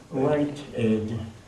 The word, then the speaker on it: Whitehead: Je crois que ça se prononce, je ne sais pas prononcer, surtout lorsqu'il y a ce Ed qui peut être Id ou Ed, mais je crois que c'est Ed. Whitehead.